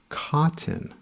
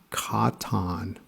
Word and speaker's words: cotton: the first syllable and there's an o sound in the last syllable it's actually quiet the o is schwa this word is pronounced cotton not cotton next is effort remember